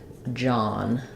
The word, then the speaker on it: John: And the letters OH say the ah sound like in father. So I would probably rewrite that like John.